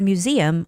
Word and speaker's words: museum: And the word museum, also the same, museum, the stress goes on E.